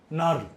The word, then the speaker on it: knurl: কে এর উচ্চারণ হয় না, KNURL, নার্ল, NURL মানে কি গো?